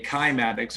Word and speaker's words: cymatics: cellular level is called cymatics or some people pronounce it like a k kymatics or climatica cymatics cymatics is is are